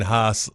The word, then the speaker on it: Haas: Oh, he did correct me on Payne Haas last week. I was pronouncing that wrong.